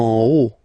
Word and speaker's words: haut: En haut. Okay, final T not pronounced, and then this H as previously, you don't pronounce it, so this is haut.